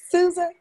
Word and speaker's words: Susan: Is that how you say it? Susan? Yes, ma'am. Okay. It's not pronounced differently? No, you pronounce it well.